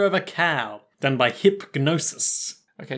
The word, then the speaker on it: Hipgnosis: than by Hipgnosis okay the G is silent there but I wanted to pronounce it so that if any way any enterprising listeners wanted to look it up they wouldn't just type hypnosis yeah question is it